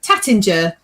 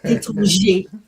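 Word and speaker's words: Taittinger: of the champagne, because what a lot of people call Tattinger, you say Étranger.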